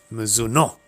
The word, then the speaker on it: Mizuno: Apparently, it's actually pronounced Mizuno. Is it? Apparently, because it's Japanese.